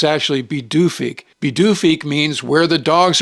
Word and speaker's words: Pituffik: and in April of 2023, Thule was renamed Bidufik. Looking at the spelling, you'd think it would be pronounced Pituffik, but it's actually Bidufik.